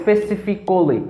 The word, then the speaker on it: specifically: specifically specifically don't say specifically no uh when you say that in english it's wrong yeah but the right pronunciation specifically specifically don't say specifically because the letter the letter a is silent specifically i must say